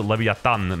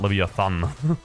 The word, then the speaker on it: Leviathan: You know, you gotta pronounce it Leviathan, not Leviathan.